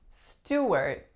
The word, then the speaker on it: Stuart: next one we have Stuart Stuart two syllables first vowel is ooh second syllable is a even though it is usually spelled s te waa Archie we don't say R we say a Stuart next one we have